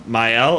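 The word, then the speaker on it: Maelle: it was abilities from Myel. I think myel is how you pronounced it.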